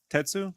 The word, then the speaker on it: Tatsu: Tetsu? I don't know how you say it. Yeah, I had no idea. Tatsu, yeah, that's right.